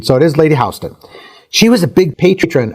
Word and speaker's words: Houston: They approached Lady Hston, and to be clear, her name is pronounced Hston in English, not like the town in Texas with the American pronunciation. So, it is Lady Hston.